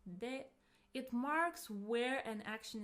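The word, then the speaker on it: で: It's pronounced as you have already heard, de.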